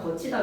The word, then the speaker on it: 걷히다: 그래서 여러분 이거 발음 적으세요라고 하면 드랑 흐가 만나서 거센 소리 들이 돼서 트, 구개음화 되어서 치가 되어서 거치다 위에 거랑 발음이 똑같아지잖아요.